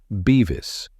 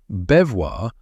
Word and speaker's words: Bevois: the French-looking name implies, it's pronounced Bevis, And, as Todd told me when I first moved to the city, anyone saying "bevoir" would likely get the piss ripped out of them and possibly a smack in the face.